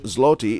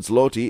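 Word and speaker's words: złoty: It does sum up how little people understand the Polish language, because obviously the L with the line is a W sound, and people do not get it right, do they?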